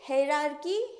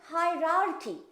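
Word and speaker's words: hierarchy: अब है हायरार्की हरार्की हरार्की हरकी कौन सा इसमें से सही होगा? प्रोनाउंसिएशन है हायरार्की। हायरार्की एक थोड़ा सा फास्ट बोलते हैं।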